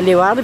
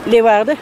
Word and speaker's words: Leeuwarden: Mensen uit het zuiden die zeggen altijd, die leggen altijd de klemtoon op Arden. Hoe zegt u het? Leeuwarden. Ja, Leeuwarden. Ja. Wij zeggen meer Leeuwarden.